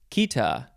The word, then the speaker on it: chaeta: Next is Kita, Chaeta. These first few words in this episode are hard to pronounce for me because they are not pronounced the way that they are spelled.